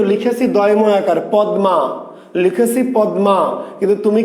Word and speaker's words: পদ্মা: তার মানে আমি শব্দটা লিখেছি পদ্মা, কিন্তু তুমি উচ্চারণ করছো কি? তুমি উচ্চারণ করছো পদ্মা, পদ্মা, দয় দয়।